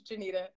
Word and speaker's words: Janita: It's literally F-A-R, far, but it's like, look, it's like, when people say my name wrong, I correct them. I'd be like, oh, my name's Janita, and it's like, his humility is like, he just focuses on whatever the message is.